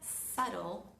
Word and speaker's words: subtle: La palabra subtle es una palabra bastante especial donde el sonido va, no se pronuncia, no se articula.